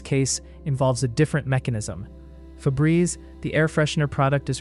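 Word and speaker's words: Febreze: A word pronounced as two syllables with the second syllable rhyming with breeze would typically be spelled with a double vowel or a silent e in the relevant position.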